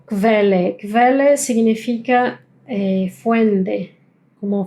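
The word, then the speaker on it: Quelle: Así es, es como si estuviéramos pronunciando como una K y una V, una V corta.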